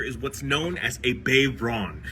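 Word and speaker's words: bodhrán: This right here is what's known as a Bayron. It's not spelled that way. It's actually spelled more like B-O-D-H-R-A-N, but pronounced Bayron.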